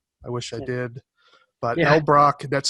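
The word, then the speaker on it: Elbroch: money on it i wish i did but l brock that's spelled e-l-b-r-o-c-h mark l brock anything by him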